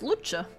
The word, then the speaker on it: Luce: we come cyber punk I think it's pronounced luch maybe I don't know oh it's an Italian right that's an Italian Italian for light yeah yeah yeah let's go to Google Translate Google Translate any Italian Italia L luch Lucha there we go Lucha it's pronounced Lucha lightbringer is literally Lucifer